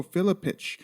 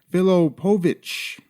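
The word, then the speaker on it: Filipović: but I didn't next I mispronounced miracle crow cops name I called him Mirko Philip itch it's actually Phil Oh Povich I say mispronounced but more accurately I'm really stupid in my memory I actually thought it was philip itch sorry fight fans for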